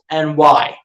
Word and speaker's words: Seranthony: That's the way his name is spelled. But it's Seranthony.